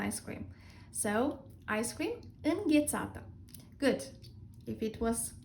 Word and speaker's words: înghețată: Ice cream in Romanian is înghețată.